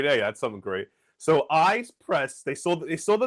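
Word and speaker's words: Ize Press: Actually, I learned from a promotional box I got from them, it's actually pronounced ice press. Eyes.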